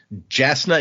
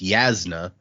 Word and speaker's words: Jasna: Jasna is how I said it when I first read it. That is not in fact correct. So, but what would it is? It's Yasna or Yasna, but what is Okay,